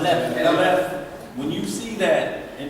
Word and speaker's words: Aleph: When you look at that and you see Aleph, or Alph, how you pronounce that? Aleph.